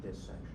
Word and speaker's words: dissection: So, it has two s's. So, we pronounce it dissection.